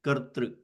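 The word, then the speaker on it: कर्तृ: This kartru, okay, this is pronounced as ka, then the r sound first, and then tru, kartru.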